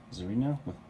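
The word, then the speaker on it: Tzarina: so you get focused the Czar's arena zarina the silent t her hat was trimmed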